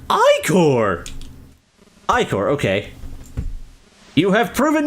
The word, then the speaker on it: ichor: That's pronounced Ichor!